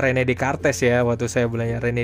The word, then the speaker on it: René Descartes: René Descartes, bacanya René Descartes ya, waktu saya belajar René Descartes melarikan diri ke Belanda, Voltaire ke England, Thomas Hobbes ke Prancis.